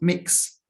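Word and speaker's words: Mx: want you to know that it exists it's pronounced mix and this is in the same way that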